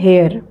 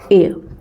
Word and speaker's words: heir: तो कई लोग इस H को भी ओपनली बोलते हैं और बोलते हैं हेयर. इट इज़ नॉट हेयर. Okay, हियर this H is somewhat silent and again this is also uttered as एयर.